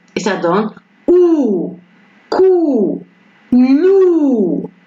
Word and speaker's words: loup: Et ça donne ou, cou, loup. Et c'est le P, ça ne prononce pas.